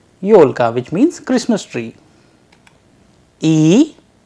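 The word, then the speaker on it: ёлка: pivots which means single yo like yo in audio i'll give you a russian example for this yolka yolka which means christmas tree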